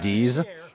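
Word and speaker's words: Dietz: like d i e TZ but apparently it's pronounced D's and they they released nuts May that might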